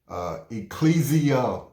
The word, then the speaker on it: ecclesia: In fact, separatism is implied in the very word church, which comes from the Greek word, let me make sure I'm pronouncing it correctly, ecclesia, meaning called out assembly.